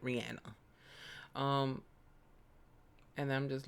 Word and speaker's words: Rihanna: Let me say her name right, Rihanna.